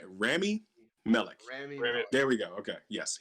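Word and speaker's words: Rami Malek: also randy how do i say his name remy melech there we go okay yes he is uh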